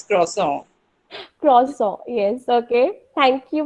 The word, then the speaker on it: croissant: even I know, but I want Rainy to give the specific, French pronunciation. Are you there? Okay, Priyanka, you can try. Priyanka Channa. It's croissant. That's Croissant. it's croissant.